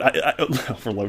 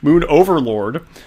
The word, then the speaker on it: Moon Overlord: This is on September 28th, and Moon Overload, Overload, now I'm saying it wrong, Moon Overlord, I don't think he's